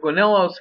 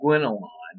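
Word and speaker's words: Gaunilo: Relate either Guinillo's criticism, and your book pronounces his name Guinillon. It's the only text I've ever used that doesn't pronounce it Guinillo, but either way, we're just going to assume for philosophy 101 purposes that Guinillo or Guinillon are both correct.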